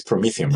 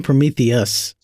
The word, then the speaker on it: Prometheum: wrong this entire time it's promethium right uh I've been saying Prometheus I'm gonna get fired